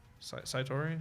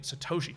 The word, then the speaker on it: Satoshi: I was like, oh, every time I'm like hatching a million Satoshi, dang it, not Satori.